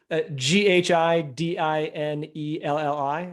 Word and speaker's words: Ghidinelli: Ghidinelli. It sounds like the chocolate guy, but unfortunately I don't have his money. And then on Twitter, just my last name, Ghidinelli. So again, Ghidinelli.